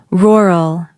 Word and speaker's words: rural: This word is famous because even native speakers sometimes stumble over it. The word is rural. Go ahead. Give it your best shot. That wasn't easy, was it? A natural American pronunciation sounds close to rural.